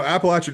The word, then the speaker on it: Appalachian: Appalach Appalachian State Mountaineers. Is that how you say it or am I saying it wrong? No. Appalachian is correct. Don't not a long a Appalachian State Mountaineers.